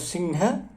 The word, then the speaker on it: सिंह: हाँ ह के साथ, क्योंकि ह का उच्चारण स्थान कंठ है, इसलिए न की तरह, माने कवर्ग के पंचम वर्ण की तरह हम उच्चारण करते हैं। सिंह, संहार, ये पंचम वर्ण की तरह से है, ये उच्चारण है।